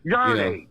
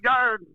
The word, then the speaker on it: Yarde: Yarde ain't no sissy. Who? Yarde. Yarde. Yeah, you ain't even say his name right, fam. It's Yard, but it's okay.